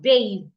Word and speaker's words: bathe: Now the second is a verb and it's pronounced bathe. Bathe.